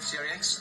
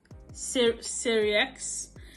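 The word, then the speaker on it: Sirieix: Let's hear him pronounce his name himself. Survival skills. You're funny, aren't you? I'm Fred Syriax. I'm best known as a maitre d' in the First Dates restaurant. Yeah, Syriax, and he's known as a maitre d'.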